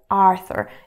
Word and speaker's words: Arthur: tool by the way in English this name is Arthur so you stress the first letter Arthur in Russian it's art or art or so you